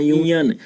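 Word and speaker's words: union: की जाए तो यहाँ यूनियन। तो दोस्तों इसकी स्टार्टिंग जो है वे वावेल से है, लेकिन इसका प्रोनाउंसिएशन य से है, इसलिए इसके पहले आर्टिकल ए का प्रयोग किया जाएगा।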